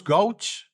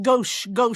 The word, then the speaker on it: gauche: who is, it goes gauche, how it's pronounced? Gauche, with a SH.